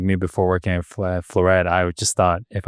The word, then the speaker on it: Flooret: Like floor, f l o o r and then e t at the end. So Flooret. If you want to sound fancy, you can say Floray, but that's only if you're fancy.